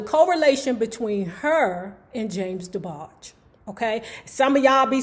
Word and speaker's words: DeBarge: It's DeBarge, not DeBargey.